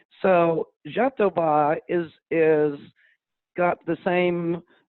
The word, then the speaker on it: jatoba: not graviola but it's a rainforest tree called jatoba j-a-t-o-b-a and k-t-o j interesting uh-huh well you well the the english pronounce pronunciation phonetically is jatoba but it's pronounced in brazil as jatoba and